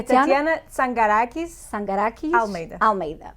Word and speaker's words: Tatyana Tsangarakis Almeida: É Tatiana Sangarakis Almeida. Pronto, eu vou dispensar o Sangarakis, porque é Tatiana Almeida, é mais fácil de pronunciar e dar-lhe as boas-vindas.